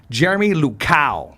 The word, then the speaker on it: Jeremy Luchau: We're here with 559 founder, the one, the only, I want to make sure I say his name right, Jeremy Luchau.